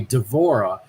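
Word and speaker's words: D'Vorah: called the apostrophe Vora and uh and it's pronounced the same way devorah so I ended up changing the middle vowel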